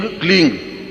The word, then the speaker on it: क्लीं: उस ऐं ह्रीं क्लीं, देखिए अब आपकी इसकी उच्चारण ध्वनि, एंग, रींग, क्लींग। मैं ग की ध्वनि के साथ उसकी बात बता रहा हूं।